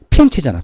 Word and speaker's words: 피렌체: 플로렌스를 영어식 발음이고 본토 발음 뭐죠? 피렌체잖아. 피렌체. 그죠?